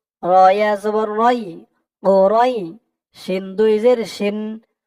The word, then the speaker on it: قريش: এখানে অক্ফ আছে, থামার কারণে ওরইশ, রয় বলে একালিফ টান দিয়ে শিনকে ধরবে। শিনের নিচে দুই জের টানবেন, এটা সাকিন হয়ে যাবে। এই একালিফ টানের নাম হচ্ছে মদ্দে লিন। ওরইশ, ওরইশ।